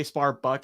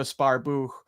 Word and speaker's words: Sparbuch: Like people say Sparbuck and stuff, but I'm pretty sure it's pronounced like crypto Sparbuch.